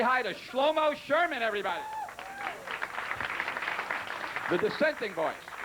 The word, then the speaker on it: Shlomoh: tell you one thing people always ask me how do you spell your name like schlomo well you know I spell it the same way everybody spells it you know except there's a silent h at the end now now that song